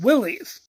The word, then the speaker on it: Willys: So that's when the troops affectionately started pronouncing the name Willys. After World War II, the company actually pushed quite hard in their marketing to try and reclaim their Willis name.